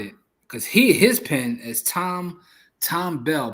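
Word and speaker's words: Thom Bell: I'm gonna find it because his pen is Tom Bell, but I think it's spelled like TH.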